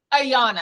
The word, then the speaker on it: Ayana: I'm good how are you good good I pronounced your name Ariana yes Ariana okay good nailed it yay yes you did